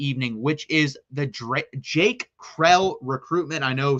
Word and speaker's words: Krell: which is the Jake Krell recruitment. I know some people have pronounced it Kroll. It is Krell. That is how you pronounce the last name.